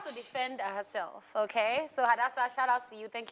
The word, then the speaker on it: Hadassah: Hadassah, Okay, not Adasa.